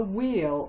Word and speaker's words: wheel: It was a circus whale, and so it was balancing a wheel on its tail. W, silent H, E as in tree, L.